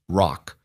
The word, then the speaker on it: WROC: The Westbridge Resource and Opportunity Center, WROC, which Noah immediately and persistently pronounced ROC, opened on the 2nd of April, 14 months